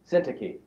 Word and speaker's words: Syntyche: Syntyche. Very good. Thank you. Syntyche. I plead with Yodia, and I plead with Syntyche to agree with each other in the Lord.